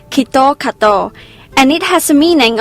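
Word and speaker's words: キットカット: that's not the case in japanese kitkat is pronounced as kito kato and it has a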